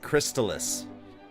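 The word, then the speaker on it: Crystalis: Yeah, you say it wrong. Okay. Crystallis.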